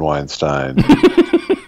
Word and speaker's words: Weinstein: I did, in fact, when I added the Elvis, when I joined the Writers Guild, I considered J. Einstein Weinstein as a pronunciation guide to my last name.